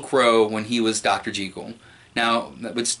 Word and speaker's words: Jekyll: G cool now but that's how it's actually pronounced I know we all say Jekyll but it's actually pronounced G cool so when he is dr.